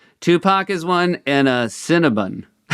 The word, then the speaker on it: Cinnabon: Is it Cinnabon or Cinnabon? That's the problem. It's bun, right? Cinnabon. But it's spelled with an O. It's B O N. So, I'm sorry. They That's why some people do say Cinnabon, and maybe that's right.